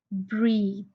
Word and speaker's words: breathe: one here is e it will change a sound when a silent E is added at the end of the word breath so it will become breathe I hope you understood